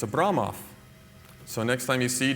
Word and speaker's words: Abramov: Yeah, it's not Abramov, it's Abramoff. So, next time you see Daniel Abramoff, pronounce his name correctly.